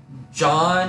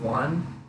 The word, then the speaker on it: Juan: It was like, John has a scooter, and he said John instead of Juan, because that's how it's spelled.